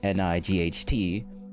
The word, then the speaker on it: knight: And then you got k n i g ht, which is just one is the nighttime where it's dark outside, and the other one is a night. You just don't pronounce the the k.